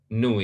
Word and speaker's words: nu: Nu ini, bacanya nu, bukan V, ya.